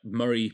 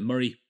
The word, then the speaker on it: Moray: really Glen Murray is just Glen Mor in a Scottish accent um I believe this is Moray and but muray Moray same yeah I think it says Mor personally that's how it looks like it's spelt that's how I've heard some Scottish people with slightly less of a heavy accents say it so I'm going with Mor if you prefer to call it Murray power to you I